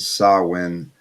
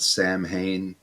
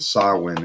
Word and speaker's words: Samhain: people that pronounce it samhain but uh this is how danzig pronounced it and i actually looked did some research here and saw when is how um that